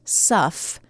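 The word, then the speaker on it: sough: o u s o u g h okay pronounced sufff uhhuh but they people got it wrong right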